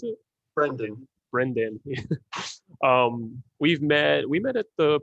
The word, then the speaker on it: Brendan: His name is Brandon. Brendan, is that how you pronounce it? Brendan.